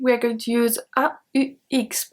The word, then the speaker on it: aux: If the country is a plural country, we are going to use AUX, pronounced O as well.